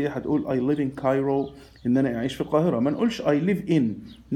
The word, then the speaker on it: Cairo: I live in، والقاهرة اسمها Cairo، ما نقولش على كايرو، اسمها كا مش كا، والآر منطقها رر ساوند، نقول I live in Cairo.